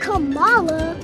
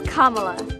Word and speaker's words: Kamala: properly say her name it's not Cala it's not CA it's Kamala Perry russom ABC News